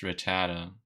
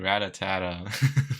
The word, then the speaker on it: Rattata: People don't know how to pronounce it. I think it's Rattata is the name. I used to call it like Ratatata, which is a lot of Atatatas.